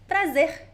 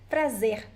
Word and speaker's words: prazer: How do I pronounce the R at the end? It depends on the accent. Okay, so many different words. You could say prazer. You could say prazer. Or you could say prazer. They're all variations of pronunciation of the R at the end of words.